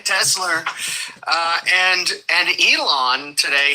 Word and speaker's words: Tesla: guy is uh he he pronounced Tesla incorrectly yesterday he called him tesler okay Tesla uh and and Elon